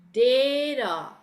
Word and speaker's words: data: ah nah nah kemudian dalam bahasa Inggris pengucapan t-nya itu seperti D Oke seperti D So it's gna be data in of data Oke